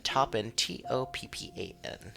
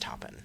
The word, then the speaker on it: Toppan: It's spelled Jane, like usual, like Jane Doe, and then Toppan, Toppan. Toppin. I would say just Toppin. Yeah, I like Toppin. Well, they're like, it's pronounced Oppen, the T is silent.